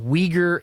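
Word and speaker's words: Uyghur: to Syria and under the auspices of combating Weger Islamists okay and it's spelled UI GH u R case if you're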